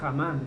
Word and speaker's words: Amán: Dice: después de estas cosas, el rey Asuero engrandeció a Amán, algunos lo pronuncian Hamán, ¿cierto?